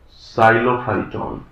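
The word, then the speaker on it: Psilophyton: अब जो Rhynia type के प्लांट हैं, इनसे एवोल्यूशन हुआ साइलोफाइटॉन। ये एक इंपॉर्टेंट कड़ी है यहां पर। साइलो भी साइलेंट है, साइलोफाइटॉन। राइनिया टाइप के प्लांट से एक ही ब्रांच निकली।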